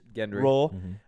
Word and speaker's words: Gendry: This is just kind of my theory, but I think Gendry's role, Gendry. A soft G.